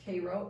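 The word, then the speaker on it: Cairo: Puck and Jim pass kro pronounced Koo in the fog in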